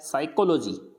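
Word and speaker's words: psychology: जैसे एस से पहले पी आ रहा है साइकोलॉजी, पर साइको नहीं बोलना है इसको, साइकोलॉजी, साइकेट्रिस्ट, साइकेट्रिस्ट, यानी यहाँ पे अब पी को प्रोनाउंस नहीं कर रहे अपन।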